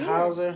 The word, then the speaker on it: Hauser: Is it Hauser? You did. Okay, good. I just want to make sure. But my last name is Hauser.